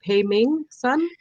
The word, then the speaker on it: Peiming Sun: let me okay so teach me how to say it pay me son yes my real name